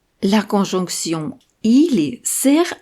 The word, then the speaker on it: или: C'est le premier i qui est accentué. Il est long et fort, alors que le dernier i est réduit.